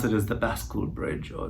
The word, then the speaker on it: bascule: pronounce it is the Bascule Bridge, or it comes from French, or they call the Chicago style bridge, where there's a counterweight and the bridge opens up.